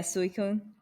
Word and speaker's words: Suicune: how do you say it saying oh yeah suicune yeah that is a shiny suicune too i